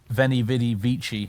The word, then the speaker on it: veni vidi vici: instead of print caps or veni vidi vici instead of when a witty vici well I'm disarming some